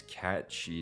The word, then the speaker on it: Cait Sith: And here on episode 29, it is cat chi time.